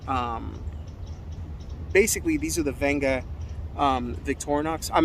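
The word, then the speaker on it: Wenger: or w-e-n-g-e-r okay um they pronounced it venga now i've heard of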